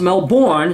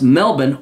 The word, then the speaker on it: Melbourne: different parts of the world Toronto Brisbane and Melbourne which is not pronounced Melbourne it's pronounced Melbourne once again cuz I'm internationally cultured my parents